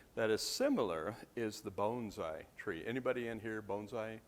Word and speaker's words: bonsai: with the Rocky Mountain Bonsai Society I have to make sure I pronounce it right not Bonsai like I pronounce all my life it's Bonsai like bone-like structure um in the Colorado